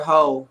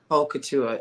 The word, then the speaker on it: haute couture: So when you hear hoe, you think of a different word for haute couture. You said hoe? Haute couture. It's pronounced haute couture, but I know how it's HAUTE.